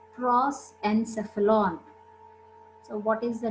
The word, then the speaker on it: prosencephalon: Prosencephalon, mesencephalon. No, just please listen my pronunciation.